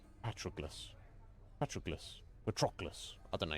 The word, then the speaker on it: Patroclus: I would have said Patroclus. Patroclus? Less emphasis on the ok. And more emphasis on the tro. Patroclus.